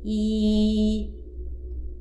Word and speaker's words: 一: First character, yi. The first tone, yi, yi, yi.